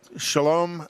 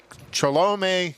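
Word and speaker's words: Cholame: killed this week in shalom uh chalamet california i can't pronounce it but uh shalom california hello which is we would call it chalamet chalamet california thank you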